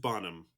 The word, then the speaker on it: Bonham: Understand that it is Helena Bonham Bonham. Carter. Bonham. Just Bonham.